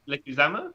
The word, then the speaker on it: Leguizamo: Leguizamo?